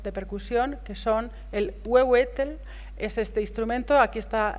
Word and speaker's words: huehuetl: El anterior es difícil de pronunciar esto. El huehuetl, no sé ni cómo se pronuncia esto.